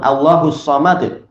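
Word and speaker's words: الله الصمد: Tapi kalau berhenti di situ maka apa? Disukun. Allahus samad.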